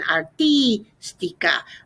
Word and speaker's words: artística: Okay, and then we're gonna need to make sure we put that accent on the I in artística, artístico.